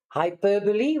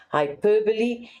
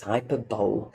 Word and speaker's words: hyperbole: Hyperbole, we refer to that. Hyper, extra, right? Hyperbole is an exaggeration or extravagant statement used for effect. Now, I know some people pronounce it as hyperbole.